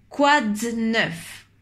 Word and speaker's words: quoi de neuf: 9 kw à 9 on n'entend pas le e de 2 quoi de neuf quoi de neuf quoi